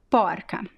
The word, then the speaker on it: porca: which is interesting right so you see the usually feminine words they tend to have this open ah and masculine words be closed oh now let's talk about